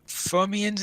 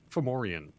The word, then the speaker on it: Fomorian: I was wondering, did I read somewhere that there are going to be Fomians in there? Yes, Fomorian. Fomorians. Yeah, I always Yes. get that name wrong.